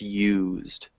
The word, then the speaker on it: used: pronounce different way no you're saying you correctly but you're making it two syllables it needs to be one syllable so just used okay use it I